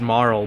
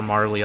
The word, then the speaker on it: Marle: you're saying just like her name is supposed to be pronounced moral but I'll call her Marley all day and I don't give